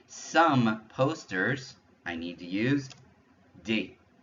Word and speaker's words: posters: So to say some posters, I need to use des. Des posters. Des posters means some posters. Notice, I'm not even pronouncing those S sounds, but because I'm saying des, I know it's plural.